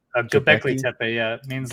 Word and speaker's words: Göbekli Tepe: Göbekli Tepe? Göbekli Tepe, yeah.